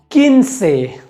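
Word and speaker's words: quince: अगला नियम ये कहता है कि अगर कू और ऊ साथ में है तो यहाँ पर ऊ का उच्चारण नहीं होगा।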